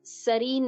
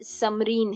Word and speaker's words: समरीन: ठीक है, आरजे का नाम सरीन नहीं समरीन है, तो वो भी क्लियर नहीं सुनाई दिया।